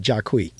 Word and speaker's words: Jacqui: a matter of fact she pronounced it jaquie uh in terms of